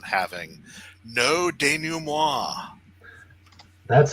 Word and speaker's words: denouement: Powers everyone's there, and he comes out to the bar to do the denouement debriefing.